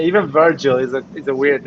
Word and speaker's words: Virgil: By the way, it's Virgil, guys, not Virgil. But you know the way sometimes it sounds, like when you pronounce. I know it's not exactly Virgin, it's Virgil.